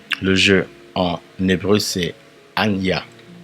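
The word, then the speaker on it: אני: Le jeu en hébreu c'est Anya. Anya. Il s'écrit de la sorte.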